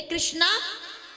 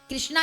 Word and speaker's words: कृष्ण: ये जो लोग बोलते हैं ना हरे कृष्णा कृष्णा कृष्णा, नहीं, देखिए ये शुद्ध उच्चारण नहीं है। भगवान का नाम कृष्णा नहीं है। क्या नाम है? कृष्ण। कृष्ण कृष्ण है। कर्षयति इति कृष्ण, शास्त्र कहता है, संस्कृत कहती है, व्याकरण कहती है।